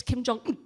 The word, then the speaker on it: Kim Jong-un: That is how you say his name, by the way. I've researched it. You have to drop that last syllable. It's Kim Jong-un.